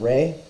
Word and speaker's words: Ra: Ra should be pronounced as Re, hence the alternative spelling Re rather than Ra.